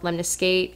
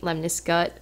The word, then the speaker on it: lemniscate: it as lnis skit almost like it's a biscuit because that's the way